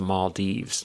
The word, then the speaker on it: Maldives: We were just talking about the Maldives, but Alex says it's pronounced the Maldives.